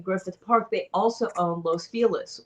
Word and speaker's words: Los Feliz: Park, they also owned Los Feliz, or Los Feliz, depending on whether you're from California or not, because we mispronounce everything.